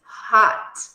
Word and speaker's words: hot: So, he is hot. Hot. Hot. Observa que na pronúncia nós abrimos um pouco mais a boca para dizer algo semelhante entre o A e o O, não exatamente o O, ok?